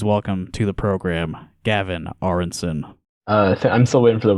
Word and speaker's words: Aronsen: I did practice pronouncing your last name. Aronsen.